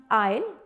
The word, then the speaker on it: aisle: other one is isla both are pronounced i'll but for question a